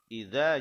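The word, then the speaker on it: إذا: Nah, idza itu cukup satu alif atau disebut dua harokat. Idza, nah pendek.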